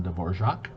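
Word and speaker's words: Dvořák: symphony number five the new world by anton de borjak yes that is actually how you say his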